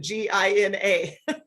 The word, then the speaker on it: Jeanna: talking about money uh it's my name gina and it's spelled listen my parents would have made my life easy if they spelled it g-i-n-a yeah but i've got six letters in my name to spell gina so it's uh it's